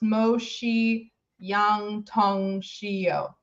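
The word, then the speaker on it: 墨香铜臭: to alternatively um okay Rowan says her name's pronounced MOSI Yang Tong shio okay so I was closer the first time Mong Tong shio thanks Rowan okay actually who watching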